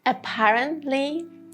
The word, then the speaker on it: apparently: Apparently, apparently.